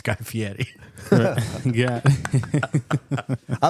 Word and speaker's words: Fieri: The way that I always explain how to pronounce it correctly is it's almost like the R becomes a soft D, like Fieri. Fieri. Like Fieri.